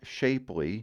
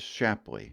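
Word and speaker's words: Shapleigh: town that you have the full opportunity to mispronounce and that's the town of shapley no it is not shapely but that right there is shapley now in the same manner that Madrid and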